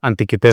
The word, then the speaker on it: Antikythera: Antiquitera. Es con c, pero bueno, viene del griego, entonces se pronuncia con con has oído hablar de él.